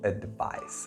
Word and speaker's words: advice: Let's pronounce this together. Advice. Advice. Don't say advice because that would be inaccurate.